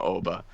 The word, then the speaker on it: Oba: And I was like, no, it's just Oba. It's 3 letters and it's pronounced identical to how it's spelled.